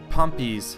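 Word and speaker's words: Pompey: Battle of faralis um pompy's forces and I did pronounce it pompy correctly now after you guys had told me how to pronounce it correctly uh pompy's legionaries actually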